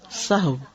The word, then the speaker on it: سہو: ہے، سہو نہیں ہوتا، سب لوگ اپنا تلفظ بھی درست کر لیں۔ سہو جیسے لغو، ٹھیک ہے، کرب، نفس، سہو۔ سجدہ سہو کے اسباب،